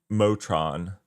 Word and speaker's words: Motron: The caveat to K0s and K0s Motron, not motion, Motron.